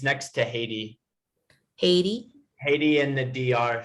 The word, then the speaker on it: Haiti: Haiti or 80. No, Haiti. Haiti. We have to pronounce the H sound.